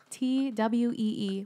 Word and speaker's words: Thuy: It's Thuy, guys. Twee. Well, that's how you pronounce it.